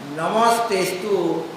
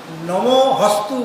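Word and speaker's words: নমস্তেঽস্তু: হ্যাঁ, অনেকে হ বলে দেয়, যেমন নমস্তেস্তু, তো নমো হস্তু বলে দেয়, বলে কি অনেকে বলে, শুনেছি নমস্তুতে। হ্যাঁ, তো নমস্তুতে তো না বলে নমো হস্তুতে, ওটা লুপ্ত কারণে উচ্চারণ করতে নেই, সেখানে হ উচ্চারণ করে মনে করছে ওটা হ বটে। হ্যাঁ, কিন্তু এটা সম্পূর্ণ ভুল।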